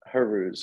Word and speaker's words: Charouz: the team name of Charouz? So I say Charouz. However, I know it's Haruz or Haruz, something like that. But it's it's like the C is silent.